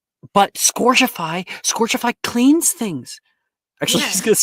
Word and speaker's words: Scourgify: Oh, I think do the same movements again, but it's actually pronounced Scourgify.